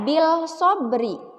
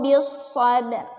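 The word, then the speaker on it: بالصبر: Tidak dibaca bil sobri. Ya, tidak dibaca watawasau bil sobri. Tidak seperti itu. Tapi dibacanya watawasau bis sabr.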